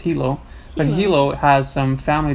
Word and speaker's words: Hilo: yeah they have in Hilo I called it Hyo all week but then I asked a local and they said it's pronounced Hilo but Hilo has some family Beach Parks which